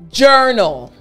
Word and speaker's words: journal: J. Like if you're gulping down water. So again, the entire word after me, journal.